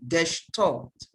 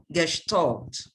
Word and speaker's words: Gestalt: cognitive theory of learning please note the uh pronunciation of that word gesh taught gestalt yeah what is the theory